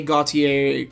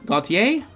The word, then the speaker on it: Gautier: And then 9 for the boys, Sylvain, Jose, Gautier. Gautier? Yeah, Gautier. Not Gautier, the R is silent.